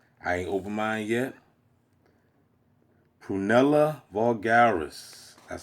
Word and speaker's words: Prunella vulgaris: Prunella Vulgaris. That's how you pronounce it.